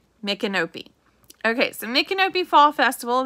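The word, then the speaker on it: Micanopy: the mikanopi fall festival yes that is how you pronounce it mikkenopi m-i-c-a-n-o-p-y mcnope okay so makenobe fall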